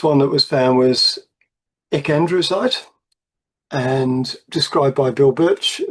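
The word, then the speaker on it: ecandrewsite: And I said to him, shouldn't this be pronounced E.C. Andrewsite? Because it was named after Ernest Clayton Andrews, E.C. Andrews. And he said, yeah, probably, you're probably right, but it's too hard to say. So it's ecandrusite.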